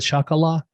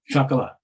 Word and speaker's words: Chocolat: it was right and it worked did I mispronounce it you said shakala Chocolat Chocolat okay yeah French and it's based on